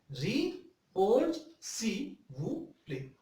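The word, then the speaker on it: Répondez s'il vous plaît: The abbreviation of RSVP is Re-Poj Si Wu Play. Once again, I pronounced RSVP Re-Poj Si Wu Play.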